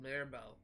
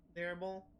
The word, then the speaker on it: Mirabeau: a close confidant of the king and of Mirabeau.